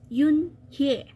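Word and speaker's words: Unhei: it's spelled u n h e i is pronounced Yun here oh it's you hey the boy said like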